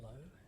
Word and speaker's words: Lowe: your surname is pronounced Lowe? Yes, Lowe.